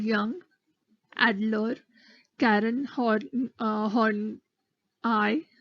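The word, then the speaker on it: Horney: called Jung addler Karen hard-on I please don't pronounce it as horny which is that's not the correct pronunciation it's on I and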